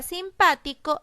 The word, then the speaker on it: simpático: mayor fuerza vos yo voy a observar la sílaba co es la última la sílaba ti es la penúltima la sílaba para es la antepenúltima eso quiere decir que la palabra simpático es una palabra esdrújula y como las reglas